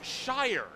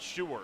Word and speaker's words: Shy: and now I remembered it's shy not Sher so apologies to Scott